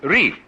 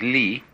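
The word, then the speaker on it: 理: So in contrast with ji, which is one point of view toward the world, is ri. Ri is a Chinese character, pronounced by the Chinese li, which almost all of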